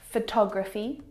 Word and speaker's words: photography: Photography, photographer, photographic. When my students mispronounce these words, it's usually because they are stressing the wrong syllable.